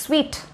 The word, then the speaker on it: suite: பட் அதை எப்படி வந்து ப்ரொனவுன்ஸ் பண்ணோம் அப்படின்னா ஸ்வீட் ஸ்வீட் அப்படின்னு சொல்லணுமா, சூட் இல்லை ஸ்வீட் அப்படிலாம் வந்து சொல்லக்கூடாது, ஸ்வீட் ஸ்வீட் ரூம்.